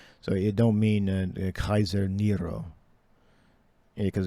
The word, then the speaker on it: Kaiser: yeah because it's really it's pronounced Kaiser not not Caesar Julius is pronounced ulius all right there's no there's no J in the Latin or there a c word in the Latin it's always pronounce uh Kaiser where you see the uh the C all right uh leave it